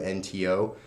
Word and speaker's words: Suunto: I think that's how you pronounce it, Suunto. It's Suunto.